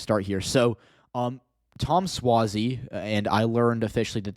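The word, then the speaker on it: Suozzi: just going to start here so um Tom swazi and I learned officially that that is the way the correct way to pronounce his last name defeated Mazy pill up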